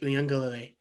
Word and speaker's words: Uiagalelei: himself in the mirror, and he's just saying, Uyunglele.